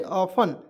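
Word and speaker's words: often: क्यों गलत है, क्योंकि इसमें टी हम लोग साइलेंट रखेंगे तो ऑफन पढ़ेंगे जी, ऑफन, ओ एफ टी एन, ऑफ्टेन नहीं, ऑफन, ठीक है ना।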